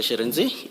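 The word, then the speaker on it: Shirintzi: Sharenzi.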